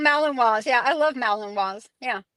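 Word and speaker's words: Malinois: Ben Ben Bacon Bits asked um do maligators I guess it's pronounced melon meloninois. Oh yeah, they're called malininois.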